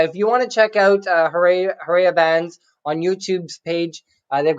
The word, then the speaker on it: Harea: Harea is like a Romanian name. Oh. Yeah, but I don't pronounce it like that, obviously. I've always just said Harea since I was a kid, just for ease of